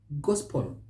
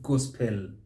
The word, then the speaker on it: gospel: end that syllable but the e is not pronounced leave it out so we say chapel not chapel gospel not gospel novo not no avail